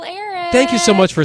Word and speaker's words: Erich: The H is silent but annoying.